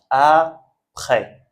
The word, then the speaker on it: après: De la même façon, on ne prononce pas le S. Souvent, quand le S est à la fin du mot, on ne prononce pas. Donc, après.